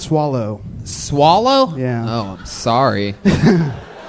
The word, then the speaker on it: Soleil: It's actually pronounced swallow.